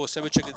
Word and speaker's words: Simochuk: Some people pronounce Simochuk as a, you know, yeah. I think I go Simochuk. This is a Ukrainian descent name.